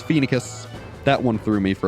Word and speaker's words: Phoenicis: I used to, when I first played the game, I pronounced it Phoenicis, like Phoenician. But no, it's Phoenicus.